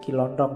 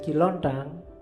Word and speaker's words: Ki Lontang: Ada muridnya namanya Ki Lontang. Kiontang. Ini waktu diinterogasi antara lain yang diucapkan itu bukan Kiontong ya. Kamu ngertine Kiontong. Oke. Nanti jadi stand up katanya Ki Lontang.